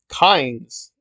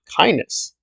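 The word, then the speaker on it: Kynes: which people don't know kines and the dune saga that's not how herbert pronounced the name he actually pronounced it kindness so there you go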